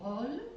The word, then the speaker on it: rôle: So this is rôle. Am I saying it correctly in French?